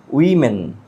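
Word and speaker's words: women: একজন বাট এটা হবে ওমোন বাট এটা হবে উইমেন।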